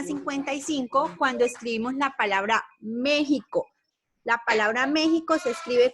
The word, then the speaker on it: México: En este caso, esta letra, esta consonante, se puede pronunciar de esta forma, como está ahí, sonando como una J.